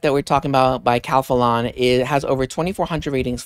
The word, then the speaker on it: Calphalon: I was like Calphalon because in my head it's Spanish. It's phonetically, I was about to say, but it's Calphalon, the Calphalon Temp IQ Espresso Temperature Machine.